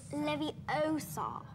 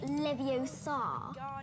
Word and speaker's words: Leviosa: Besides, you're saying it wrong. It's Leviosa, not Leviosa. You do it then if you're so clever.